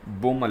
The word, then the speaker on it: Baumol: That is sales maximisation model, और ये William बोमल ने पेश किया। आप इसकी स्पेलिंग कर सकते हैं BAUMOL या विलियम बोमल ने पेश किया।